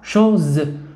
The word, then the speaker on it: choses: كالحركات في اللغة العربية إذا وجدت اس بين هاتين الحرفين أو هذين الحرفين نقرأه زد، نقرأه صوت ز. إذا سنقرأ شوز شوز، وإس هنا في آخر الكلمة هو حرف لا يقرأ ينطق ولا يكتب عفوا ولا ينطق.